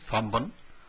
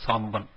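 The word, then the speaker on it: 三本: San hon is a little difficult to pronounce, so it is samban, or it is also called samban. Either with the sound of m or with the sound of n, you can say this.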